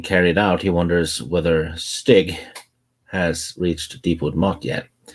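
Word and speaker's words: Stygg: what was his name stig wow s-t-y-g-g i know spelled a little different but pronounced the same no i always say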